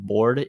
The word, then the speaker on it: Borde: And then another dude I'll say is Bored. His name is spelt weird. It's like Borde, but he's a pretty good one as well.